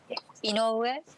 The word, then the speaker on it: Inoue: so- Am I saying it right? Inoue? Inoue, Inoue. like a Senator Inoue.